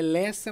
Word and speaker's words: Leça: É Lessa, mas se escreve Leca porque não tem o cedilha.